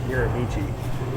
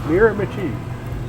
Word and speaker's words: Miramichi: that's north um and I didn't know it was called mirami I was calling it Miramichi people were like what are you talking about cuz that's how you spell it it's spelled mirami but it's mirami and I got there